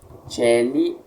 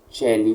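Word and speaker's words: caeli: Mais tarde, celi ou celi com O, ambas estão certas, leremos apenas como celi, desta forma, está bem?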